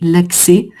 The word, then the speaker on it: l'accès: Donc l'accès, tu as raison, il y a un S, hein, mais on va pas le prononcer, l'accès.